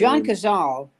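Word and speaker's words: John Cazale: mean everybody I mean John Zale uh that's what you say his name John kazal kazal thank was made five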